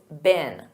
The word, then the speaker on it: been: And notice that pronunciation. In American English, it's been.